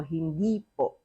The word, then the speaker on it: hindi: Again, there is no in the second syllable of hindi. Why? Because there's already the po. So hindi po.